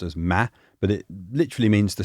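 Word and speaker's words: 間: It's kangji that's pronounced as ma, but it literally means the space between and the relationship between things.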